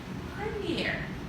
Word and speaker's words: premiere: Premiere. Premiere, or as the Americans say, premiere.